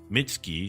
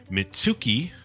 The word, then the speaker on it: Mitski: She dropped the U in her name, and it's just Mitski, so that people probably wouldn't pronounce it Mitsuki, Right.